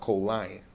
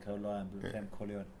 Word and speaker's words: Colion: tried to kill me it's pronounced colon they start calling me colion okay colon that's how it's pronounced